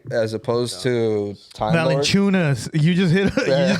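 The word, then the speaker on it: Valančiūnas: If we would want Time Lord or Villacunas, I would say I would prefer Villacunas, right, as opposed to Time Lord. Valanciunas.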